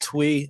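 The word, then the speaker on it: Thuy: like that by uh twee right there i know it looks like it's t-h-u-y but it's actually pronounced twee and thankfully the artist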